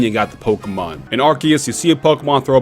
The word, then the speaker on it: Arceus: it's not a big deal yes it is pronounced Arceus Arc as an arc of the Covenant Noah's